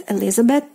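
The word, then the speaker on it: Элизабет: this Eliza bet Elizabeth so uh the th uh letter combination which is pronounced as th in English it doesn't exist in Russian so we because we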